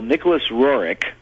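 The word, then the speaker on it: Nicholas Roerich: time and why he is important uh well Nicholas roric that's that's apparently the way the name is pronounced um and I learned that by going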